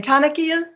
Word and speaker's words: Tanil: wonderful welcome welcome so is it tan tan how do you say your name tanil tanil yes T tanil this is